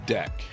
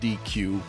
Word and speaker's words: deque: let's talk about a deck and that's how you pronounce this thing it's not dq or de qui or no it's a deck like a deck of cards that's how you pronounce